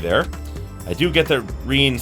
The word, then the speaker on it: Rin: Reen, I'll keep, like switching between them because I pronounced it as Rin for the longest time, but traditionally it should be pronounced Reen.